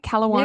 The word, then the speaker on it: Kalawarny: Her name is Kristen Kalawarny. Did I say it right? Kalawarny? Nailed it. Kalawarny, baby. Yeah, Kristen Kalawarny.